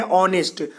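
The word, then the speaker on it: honest: बोल रहा है कि कोई भी शब्द जो है एच से स्टार्ट हो लेकिन उसका उच्चारण एच की तरह न हो तो उसके पहले एन का प्रयोग करेंगे। हम यहाँ लिखते हैं ऑनेस्ट तो लिखते हैं, ह नहीं लिखते हैं।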